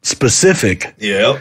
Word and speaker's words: specific: Like people at my work instead of saying specific. Yeah. Pacific. You got to be Pacific about it.